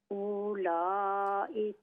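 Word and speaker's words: أولاء: अंतुम उलाई हा अंतुम, आना हा, हा अंतुम उलाई ये वाव जो है साइलेंट है। उला, वाव को इग्नोर कर दें, न पढ़ें।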